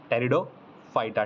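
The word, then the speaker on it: Pteridophyta: पी से शुरू होता है लेकिन पी साइलेंट होता है, टेरिडोफाइटा, ठीक है।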